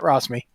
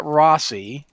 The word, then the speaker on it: Rossi: this week rosi I can't say my own name this is the second time this has happened I've mispronounced my own name twice with the same way too yeah so yeah I am Rossy uh with me this